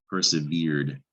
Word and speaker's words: persevered: looks like it but you don't pronounce red you don't hear the e persevered that's one of the three rules about ed endings sometimes it just makes a d sound persevered per se beard